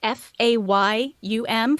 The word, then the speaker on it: Fayum: It's Fayum, Fayum, because it's a small town, I think